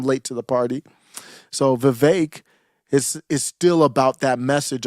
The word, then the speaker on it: Vivek: Vivek, I think his name should rhyme with cake, is what I'm hearing.